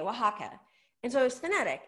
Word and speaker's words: Oaxaca: so i the restaurant spelled it phonetically w w w i think w a h a k a oaxaca and so it was